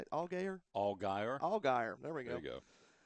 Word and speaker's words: Allgaier: Allgaier.